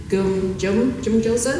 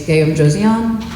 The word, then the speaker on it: Gyeongjoseon: You've got Sartre, Marikand, even Zipangu, Hansa, Jumjosen? Oh, I'm terrible at pronouncing this. Okay, it's Gyeongjoseon.